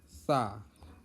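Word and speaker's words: ثاء: Ya, dari 30 huruf ini ada beberapa huruf yang memang pelafalannya agak susah, seperti sa. Sa di sini letakkan ujung lidah di gigi atas. Sa.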